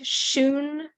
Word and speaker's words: Hsun: chat all right so it's like Shoon because that the second part of his name the t z u that means master so I just put